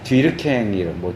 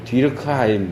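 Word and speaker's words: Durkheim: 프랑스의 이제 뒤르캥, 뒤르크하임 이렇게 영어식으로 발음하기도 하는데 이제 프랑스 사람이니까 뒤르갱 학파에 속한 학자인데 이제 문화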